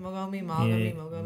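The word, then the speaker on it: Mogami: Mogomi?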